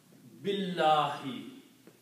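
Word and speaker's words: بِاللهِ: So the word was Allahu, but because of the B, it will be pronounced Allahi. Okay? And when you combine these two, you do not pronounce this alif here. B is combined with the lam, so you pronounce Billahi.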